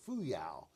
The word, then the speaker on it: Fuyao: There's a Chinese company, and I believe you pronounce it Fuyao.